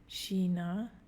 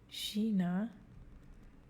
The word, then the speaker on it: China: China, China. Chef, chef. Die Aussprache von EU, E Umlaut U.